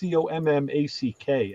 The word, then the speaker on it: Commack: So this town I mentioned, we call it Comac, but they would say Comac. It's Commack.